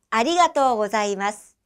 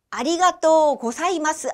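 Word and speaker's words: ありがとうございます: 아리가또 고자이마스, 아리가또 고자이마스. 잘하셨어요. 자, 발음하실 때 아리가또 고사이마스 아닙니다. 아리가또 고자이마스도 아니고요. 예쁘게 아리가또 고자이마스 발음이 잘 됐으면 좋겠습니다.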